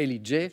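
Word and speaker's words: L.E.J: Parce qu'on le prononce à l'anglo-saxonne, mais je n'allais pas vous refuser, bien sûr, la bonne réponse. L, donc les initiales L, E, J et Ellie J.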